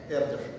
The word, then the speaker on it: Эрдёш: Но вы понимаете, да, по правилам русского языка ударение ставится на ё всегда. Вот чтобы не ставить его на ё, они нарисовали вот здесь ударение. Вот надо, надо. Я уже не стал ничего говорить, мне просто очень понравилось. Ну, решил, пусть будет так, Эрдеш. Но Эрдеш это да, это похоже на правду, но конечно, может, извращенный способ записи.